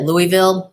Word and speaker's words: Louisville: and I said at Louisville my whole life and then one day he was talking to me and he's like no Zowie it's it rhymes with oval Louisville what would you